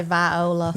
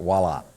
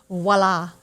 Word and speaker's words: Voila: up on the outside it starts with a v but it's pronounced with the w right it's french i guess let's be